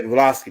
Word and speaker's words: Blavatsky: Yeah, Vasquez, that's that lady Helen that was over the Madam Blavatsky. Yeah, Blavatsky, that's how you say her name.